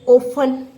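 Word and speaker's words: often: जैसे ओफन, ओफन, तो आपका जो एफ और टी है, फ की आवाज़ दे रहा है, टी साइलेंट है, इस चीज़ का ध्यान रखेंगे, तो आप फ ही इसका सिंबल लिखेंगे।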